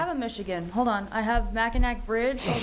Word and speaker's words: Mackinac: Mackinaw, by the way, yeah, that's one of the biggest things. It, it phonetically reads Mackinac, but Mackinaw, yeah, it's the Mackinaw Bridge.